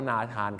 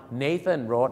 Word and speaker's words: Nathan: ฮ่องกง ก็ รู้ เพราะ เรา ก็ เป็น ชาติ เดียว ที่ ออก เสียง ว่า นาธาน ครับ ชาว โลก ก็ ออก เสียง ว่า nathan Road นั่น เอง นะ ครับ ซึ่ง ชื่อ